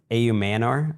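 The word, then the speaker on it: Ayomanor: A.U. Manor, that's what we settled on for pronunciation.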